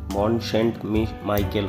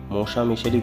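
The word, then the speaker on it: Mont-Saint-Michel: চলে এসছি মোশা মিশেলে ইংরেজিতে উচ্চারণ করতে গেলে মন সেন্ট মাইকেল হয় কিন্তু ফ্রেঞ্চ ভাষাতে এটাকে মোসা মিশেলই বলা হয় এর ইতিহাস শুরু রোমান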